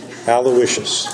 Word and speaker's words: Aloysius: professional for 20 plus years Jenna attended Mount Aloisius my pronouncing that correctly Thank You Aloysius Thank You PA and as a Dale Carnegie